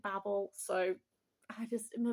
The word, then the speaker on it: Babel: But this is, I always want to say Babel. I know that she says to pronounce it Babel, so I just, in my little brain.